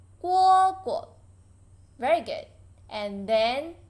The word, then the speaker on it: 蝈蝈: Read after me. 蝈蝈. Lighten. 蝈蝈.